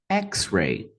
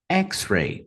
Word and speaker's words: X-ray: pela palavra código xray duas sílabas xray xray primeira sílaba também a mais forte e aí a gente